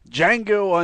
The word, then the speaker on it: Django: So we are discussing first and foremost Django Unchained because the D is silent.